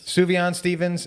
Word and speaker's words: Sufjan Stevens: Sufjan Stevens, Illinois.